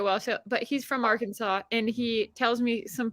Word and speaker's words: Arkansas: and then I'm like in Kansas they call it like art Kansas and Arkansas and I thought that was dumb like it's Arkansas that's how you get beat up Dara it's called Arkansas not our Kansas like no when you're